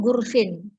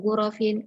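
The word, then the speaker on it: غرف: Nah, atau salah su gurfin, ada juga. Atau salah su gurfatin. Nah, ini salah. Jadi yang benar adalah salah su gurofin, arba'u gurofin, khomsu gurofin, sampai dengan asyru gurofin.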